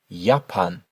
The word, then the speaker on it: Japan: And finally here, yapan.